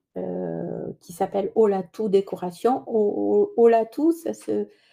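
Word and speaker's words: Olatu: Oatou, ça se ça s'écrit avec un u à la fin et pas un o mais ça se prononce ou parce que ça veut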